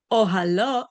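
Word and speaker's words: אהלה: It says that we pronounce the word ohalo as with the hey at the end, as if it were written with a vav at the end of the word ohalo vav, his tent.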